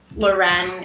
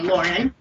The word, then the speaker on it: Loren: My dad named me after Sophia Loren, and Loren is how you pronounce my name, but I grew up and people called me Lauren.